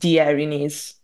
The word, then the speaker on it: Erinyes: this other project the Erinyes if I am pronouncing that correctly I Erinyes yeah I think think it's referring to the Greek mythology and I think it's Erinyes I okay all right thank